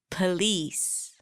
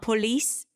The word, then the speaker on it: police: English Africa possibility possibility police are you starting to hear all those choise it's not police police congratulations congratulations so we